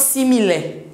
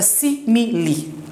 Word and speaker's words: simile: Le e, the e is pronounced as i. It is not simile. It is not simile. It is not smile, it's a simile.